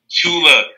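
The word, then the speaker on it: Tchula: chula she she will Tula misses the T is silent yeah yeah I figured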